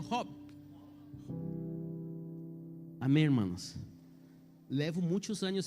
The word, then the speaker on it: Job: É que se pronuncia em castelhano Job.